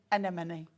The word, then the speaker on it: anemone: What's the opposite of a friend? An enemy. An enemy. Yeah.